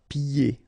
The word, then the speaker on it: pieds: And then when you get this combination here, it's ye, pieds. Okay, so you don't hear the D.